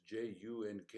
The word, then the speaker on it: Junk: pause of dr juke his name is j-u-n-k and we pronounce it junk because he's german not english impact on local fauna